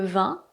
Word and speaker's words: vin: Voici le vin et voici le vent. Je répète : le vin, le vent. Donc, ce n'est pas le "veeen", ce n'est pas le vin, ce n'est pas "le vent".